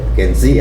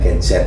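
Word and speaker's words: Gen Z: Ya, pesan saya kepada generasi muda terutama Genzet Gensi ya. Oh, kalau saya itu bacanya Genzet ya.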